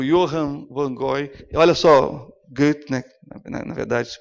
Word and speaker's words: Goethe: Olha só, Goethe, na verdade se pronuncia.